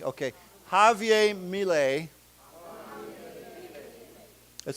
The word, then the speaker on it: Javier: Okay, now this is pronounced with an H. Ha. Javier. Okay. Javier Mille.